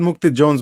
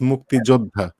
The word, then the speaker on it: মুক্তিযোদ্ধা: No, it's not Mukti Jones, boy. You've been saying it for a long time. It's Mukti Jodha.